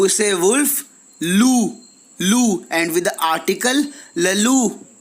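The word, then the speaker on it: loup: Lou, lou, and with the article lalu, lalu. अगर आपको pronunciation में प्रॉब्लम आ रही है तो प्लेलिस्ट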